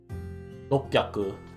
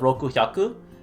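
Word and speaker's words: 六百: Certain words, like I said earlier when I was talking about the example with the different pronunciations, Roku actually becomes ro hyaku. Rokyaku. Instead of roku hyaku.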